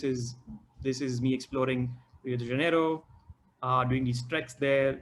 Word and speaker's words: Rio de Janeiro: is uh rio again the correct way of pronouncing rio is rio de janeiro is not rio de janeiro he's huge asian arrow